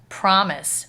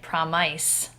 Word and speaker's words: promise: Promise, we have an I and a silent E, and instead of saying it promise, okay, like you would think with a vowel, consonant, E, silent E pattern, it's promise. It maintains that short I sound.